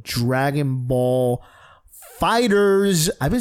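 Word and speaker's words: Dragon Ball FighterZ: game called Dragon Ball fighters I've been saying it wrong I thought was Dragonball Fighter Z no this fighters where the Z over Z the end what is this 1997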